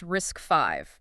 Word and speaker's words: RISC-V: We are talking about RISCV, pronounced risk five, by the way.